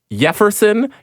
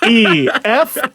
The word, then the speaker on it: Yeferson: Number 23, Jefferson Yanuzzi. No. Can't be Jefferson? Nope, he's correct. How do you know it's a soft J? Yeah, okay. It's spelled with a Y. Yeferson. That's how I know.